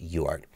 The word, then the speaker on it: UART: is referring to a UART UART or just pronounced yard and the way I